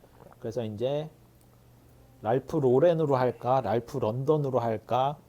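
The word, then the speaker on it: Lauren: 이게 그 뭐가 있냐면 로렌이라는게 발음이 두 개라 그래요. 뭐 앞에다가 로렌이라고 하 하는 발음이 있고 뒤에 랜에다 프랑스처럼 약간 로렌 이렇게 하는게 있대요. 그래서 그 사람들이 항상 인터뷰할 때도 물어봐요. 어떻게 발음하는게 맞냐. 그래서 이름을 바꾸고서도 어떻게 발음하냐를 그 트라우마는 계속 이어졌다. 계속 이어졌다. 예. 그이 인생과 뗄 수 없는 거였군요. 네. 근데 앞에다 로렌 하는게 맞다 그러더라고요. 네.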